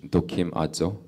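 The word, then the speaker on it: δοκιμάζω: It's the word in the original language, "dokimazo." 예, 도키마조. "Dokimajo." 예. 뭐 굳이 발음까지 기억하실 필요는 없고 그 의미만 기억하시면 돼요.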